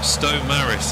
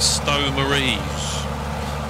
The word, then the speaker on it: Stow Maries: up to uh Ry always very careful now in videos how I pronounce names after the uh video I did at tatan Hill where I was calling it tatten Hill and uh Stow Maris it's very easy to call it Stow mares or something like that